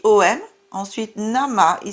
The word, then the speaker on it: Namah: Chantez Om Namah Shivaya afin de raviver votre paix.